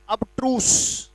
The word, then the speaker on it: abstruse: एक शब्द आता है जो बहुत इंपॉर्टेंट है, ABSTRUSE, इसका उच्चारण है अबट्रूस।